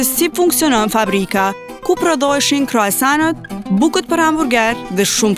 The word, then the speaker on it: croissant: In French we say croissant.